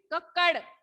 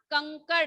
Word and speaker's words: कंकड़: करते हैं बच्चों तो फिर है कक्कड़ कक्कड़ नहीं होगा कंकड़ है कि आधी आधी नहीं